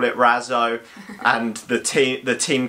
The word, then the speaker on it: Razzo: stuff like that but the proper pronunciation is probably ratzel and it's rocket in Italian so we're gonna just call it Razzo and the team the